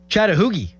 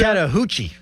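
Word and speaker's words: Chattahoochee: Chattahooi. Why would that P? Isn't that like Chattanooga? Chattahuchi.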